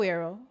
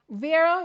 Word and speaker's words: Vera: Is it Vera or Vero? Vera, it's pronounced.